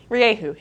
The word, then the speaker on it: Rieju: So Rieju, there's always some concern over the pronunciation. This is the closest way I can say it to how the Spanish do, and I think they know how to say it.